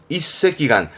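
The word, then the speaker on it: 一隻眼: 발음은 이새끼간 요 느낌이세요.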